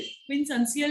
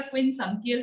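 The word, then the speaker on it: quincuncial: जो लास्ट में आपको बता रही हूँ दैट इज क्विनसंसियल। क्विनसंसियल या क्विनसंकियल, आप कुछ भी बोल सकते हो उसको, whatever way you can pronounce।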